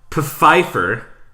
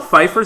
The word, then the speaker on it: Pfeiffer: No, okay, your choices are Michelle Pfeiffer. Is it really spelled with a P? Is Michelle Pfeiffer spelled with a P? That really? That still makes sense.